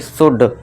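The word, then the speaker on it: should: इधर देखिए ओ के बाद देखिए यू के बाद क्या है? एल। तो इसे क्या पढ़ेंगे? शुड। साउंड नहीं शुड।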